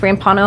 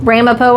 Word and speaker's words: Ramapo: I'm excited to add this Rono hybrid that's not how you say it Ramapo hybrid into my garden